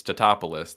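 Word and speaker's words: Tatopoulos: keep mispronouncing it, and he goes, "It's Totopoulos."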